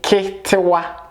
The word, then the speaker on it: ketewa: E as in sit. E. In Twi we say ketewa.